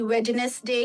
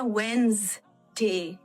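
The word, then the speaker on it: Wednesday: अप्रैल कहता है, कोई वेडनेसडे कहता है, कोई वेडनेसडे कहता है. असल क्या होती है? तो मुझे फिर वहां से मैंने पढ़ा वेंसडे इज the correct pronunciation.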